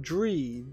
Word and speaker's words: Droi: It's Droi, D-R-A-O-I, and in the description it says Droi, pronounced Dree, D-R-E-E.